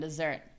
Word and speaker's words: dessert: I I know that's a common one and it's confusing because you would think that it's the pronunciation that changes, but it's kind of not really the pronunciation. It's the rhythm.